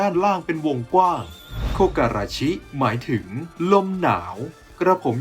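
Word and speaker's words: 木枯らし: ทำ ให้ แห้ง เห*่ยว เมื่อ รวม กัน ก็ จะ อ่าน ว่า โคก อา ราชิ ดัง นั้น จึง สื่อ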